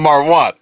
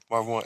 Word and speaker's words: Marv Won: I say Marv Won, but I know I'm not saying it correctly because it's it's spelled Marv. I thought he was Hispanic at first. No, it's not. I just like him saying it like that. It's one, like as if you won a game or like as in Marvin you're a winner.